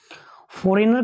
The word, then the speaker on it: foreign: बट इसका क्या होता है, साइलेंट साउंड होता है, ये जो साइलेंट वर्ड होता है ये जी बोला नहीं जाता है।